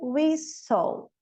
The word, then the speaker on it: whistle: O T em castle, whistle.